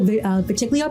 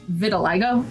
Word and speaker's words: vitiligo: He's got purple vitiglio patches. Is that how you say it? Oh, is it vitiglio or is it vitiligo? Vitiligo, right? That's how I say it. Vitiligo.